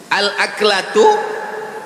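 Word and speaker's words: الأكلة: Al-aklatu bifathil hamzah. Cara membacanya, hamzahnya baris atas, a.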